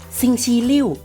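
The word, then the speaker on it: 星期六: อ้าว แล้ว ต่อ ไป วัน หยุด แล้ว ครับ ซิง ชี ลิ่ว ซิง ชี ลิ่ว วัน เสาร์ นั่น เอง ซึ่ง และ นิ้ว ซิง ชี ลิ่ว วัน เสาร์ นั่น เอง และ วัน สุด ท้าย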